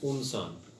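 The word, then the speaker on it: إنسان: We start the premise should be pronounced Unsan.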